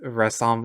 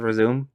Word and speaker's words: Resume: Also, I'm sorry, Jericho, that I keep mispronouncing uh Resume as Resom, even though you told me that it was supposed to be pronounced as Resume.